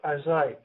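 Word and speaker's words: José: Oh, that's uh Jose spelled with a J, but it's pronounced Jose. Jose is Spanish.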